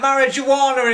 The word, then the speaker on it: marijuana: I hope you're not smoking that marijuana in there, John. It's marijuana, not marijuana. You pronounce the J as a Y.